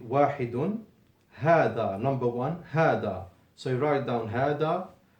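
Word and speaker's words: هذا: wahidun, hada, number one, hada. So you write down hada. You remember that there is no alif between the ha and the dal, although you pronounce it.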